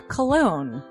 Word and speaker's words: Colon: It is a self-published book by Christopher Cologne. Chris Cologne smells good to me. But look at her. That broke that fucking cold little exterior. He's like, hee. But it is spelled C-O-L-O-N.